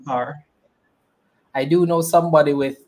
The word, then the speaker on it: Kerr: So definitely I understand when people have an appreciation when people say Kerr, but I prefer Carr.